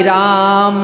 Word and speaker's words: राम: जैसे हरे रामा हरे, अब माँ पर डंडा निकल गया रामा, तो लेकिन यहाँ पर दोष नहीं है। लेकिन हम जब जाप करें तो इसका शुद्ध उच्चारण आप भी सुन लें। हरे राम राम राम हरे हरे, हरे कृष्ण कृष्ण कृष्ण हरे हरे।